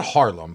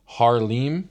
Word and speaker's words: Haarlem: It's not Harlem, but it's spelled Harlem with two A's. Haarlem, I'm gonna say, Netherlands.